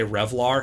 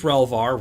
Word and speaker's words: relvar: has a login yeah the term relvar is fun um i am probably going to accidentally say revlar several times as well it is relvar relational variable so i'm